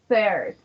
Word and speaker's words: third: d second and so on then we have third remember the pronunciation is third noti third third so in